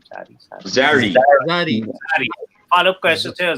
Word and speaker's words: Zari: How do you pronounce her name? Zari.